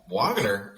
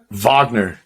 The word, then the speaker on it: Wagner: And your boy Wagner, how do you say it? It's like Wagner? Wagner. It's like a Wagner? V.